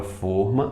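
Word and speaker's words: fôrma: não gerar ambiguidade mas pra palavra forma assim pronunciada de forma fechada eu posso colocar o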